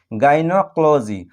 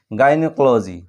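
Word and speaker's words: gynecology: এই ওয়ার্ডটির শুরুতে দেখো জি ওয়াই এর উচ্চারণ আমরা গর মতো পাচ্ছি, আবার শেষে দেখো জি ওয়াই এর উচ্চারণ আমরা জর মতো পাচ্ছি, গাইনোক্লোজি।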